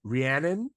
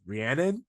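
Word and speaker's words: Rhiannon: put it out that it's ranan is the name of a song by Fleetwood Mack and they were like if you listen to that song you will know how to say her name so that is what she is named after that will help with the pronunciation so it's ranan and not Ray so you guys we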